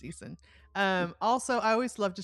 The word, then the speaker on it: Eason: Yeah, and Easton is spelled Eason, not Correct. Easton. It's just Easton.